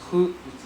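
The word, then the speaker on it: ふ: Hu. So this guy is pronounced as hu. Hu. Hu. Right? Like W-H-O. Right? Hu. But not who. Hu. With a lighter sound.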